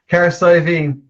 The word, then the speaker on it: Cahersiveen: Cahersiveen.